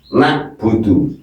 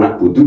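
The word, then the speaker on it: نَعْبُدُ: Jadi ingat siapa yang sering membaca iyaka budu berarti hurufnya berubah hamzah ini ya. Ini loh begini loh. Nah, salah ini loh. Nah, nak budu na'budu itu iyaka na'budu berarti huruf ini. Tapi kalau iyaka na'budu basah tenggorokannya berarti ini berarti betul.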